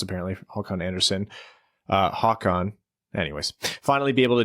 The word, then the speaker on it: Håkan: That's how it's pronounced, apparently. Håkan Anderson. Håkan.